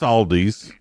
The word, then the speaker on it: Aldi: No, no, it's Aldi's. Audi's over there. That's what they say on their commercial anyway.